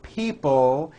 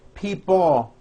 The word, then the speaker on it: people: powerful control financial people notice in this last word people it's not pronounced people with your tongue not moving it's people with your tongue slowly moving up and your jaw remaining down stretch out that L sound people like that here